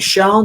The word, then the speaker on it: Shand: Is it Fennec Shand or Fennec Shan? Is that how you pronounce his Fennec name? Shand.